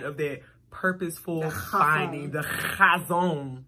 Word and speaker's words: Chazown: And you literally put a T before the O and said Chaztown.